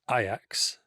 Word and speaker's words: Ajax: have been well first of all R it's pronounced ax ax one of the most famous football names